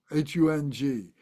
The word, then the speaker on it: hung: use the English hung hu n g in Sanskrit it's hum h M the Tibetans pronounce it hung hu n g whatever